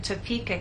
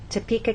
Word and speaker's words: Topeka: you can see that we stress the middle part of the word topa and here the